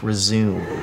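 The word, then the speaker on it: résumé: Where does the accent go in resume? Dude, it's pronounced resume.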